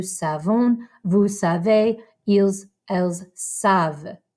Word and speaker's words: savent: So we have je sais, tu sais, il sait, elle sait, on sait, nous savons, vous savez, ils, elles savent. Again, don't pronounce that ENT.